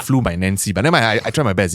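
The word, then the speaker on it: Fluminense: part of the recording it is pronounced as flumen it sounds like flu my Nancy but I try my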